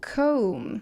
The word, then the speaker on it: comb: So, first of all, you never pronounce B. And it actually becomes oh, comb.